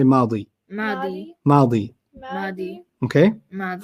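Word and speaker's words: ماضي: Past is madi. Madi. Like Maddie. Madi.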